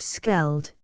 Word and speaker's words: Scheldt: above the water of the Scheldt, pronounced Skeld, the Lys, the Leve,